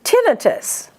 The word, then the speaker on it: tinnitus: So you pronounce them diabetes mellitus. And tinnitus.